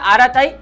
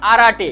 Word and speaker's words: Arattai: এই অপ্লিকেশনটার প্রোনাউন্সিয়েশন মানে উচ্চারণটা একটু আলাদা। বাংলায় এটা আড়াতাই এবং ইংলিশে আরাটে। যেহেতু বাংলায় ভিডিও বানাচ্ছি তাই আড়াতাড়াই উচ্চারণ করবেন আপনারাও।